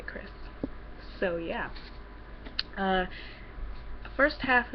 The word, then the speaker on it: Krys: by Michelle Chris uh other people pronounce it priz but I say Chris so yeah uh first